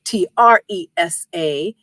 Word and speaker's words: Tresa: You can also connect with me on LinkedIn, Tresa Chambers, Tresa, and it rhymes with Lisa, as I always say.